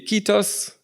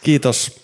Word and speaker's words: Kiitos: The other one is obviously Kitos, and that's the incorrect pronunciation. Why? Because there's two I's. So, Kitos. Kitos. Kiitos, Mike.